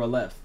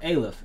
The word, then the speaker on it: Aleph: is the lead for a left or alif as he pronounces it we are focusing on